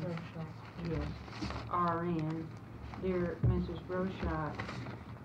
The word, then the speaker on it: Rochette: Am I pronouncing her name? Rochette.